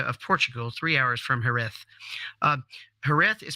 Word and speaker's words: Jerez: thus sound so a a fella from Mexico would probably say jerez but in Spain they call it hereth and that's because I